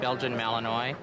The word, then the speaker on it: Belgian Malinois: It's one of the three Belgian breeds, and it's pronounced Belgian Malinois.